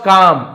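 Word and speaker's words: calm: तो यहां पे काल मनी पढ़ेंगे। काम पढ़ेंगे। है ना? एल साइलेंट होता है।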